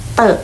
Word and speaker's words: 得: นั่น เอง ค่ะ และ เตอะ ตัว ที่ 2 นะ คะ ตัว นี้ ตัว นี้ เลย สามารถ อ่าน ออก เสียง ได้ ว่า เต๋อ ที่ มา จาก คำ ว่า เต๋อ เต้า นั่น เอง ค่ะ ซึ่ง